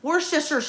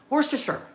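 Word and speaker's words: Worcester: My number one is worister, right? And pronouncing is one thing. Spelling it is a whole other ballgame. Worster. I believe that's how you say it. Worster.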